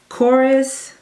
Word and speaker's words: Korres: Then, speaking of just grabbing things that I don't normally use, I got this, and I'm hoping I'm pronouncing it right. Korres, is K-O-R-R-E-S.